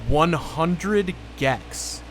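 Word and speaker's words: 100 gecs: slash artist known as 100 gex it's the number 100 and then a space and then the word is spelled g-e-c-s and that is weird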